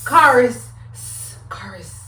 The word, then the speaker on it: Kharis: Kharis. I think it's like a mind thing. They want me to just like say the wrong thing. But Kharis, so let's get right into it.